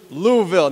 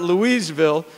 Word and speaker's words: Louisville: he goes to school it is one syllable louisville it is not louisville it is not louiseville it's louisville which we were corrected a